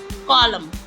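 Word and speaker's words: column: है यहां पर autumn कंडेम कंडेम हाईम high कॉलम कॉलम डैम डैम अब है हमारा टी साइलेंट कुछ शब्द है जिनमें टी साइलेंट रहता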